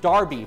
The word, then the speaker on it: Derby: a Look Back to the original Derby pronounced Derby from England in 1780 but First we'll